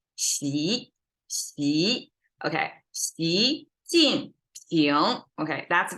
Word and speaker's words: Xi: Instead of Xi, people a lot of times say G, because who knows how to pronounce this X sound, but it sounds like Xi.